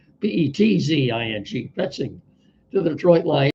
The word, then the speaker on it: Petzing: It's very possible that some Cardinal free agents could follow Penzing. I'm sorry, there's a T in there. I didn't spell it properly in the headline. Petzing, Penzing, to the Detroit Lions following his hiring today.